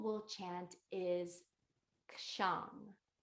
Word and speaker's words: kshang: And the syllable we'll chant is kshang. It's spelled K like kangaroo, SHANG, kshang.